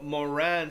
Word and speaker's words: Moran: mor moran stone shifter not morgan moran stone shifter what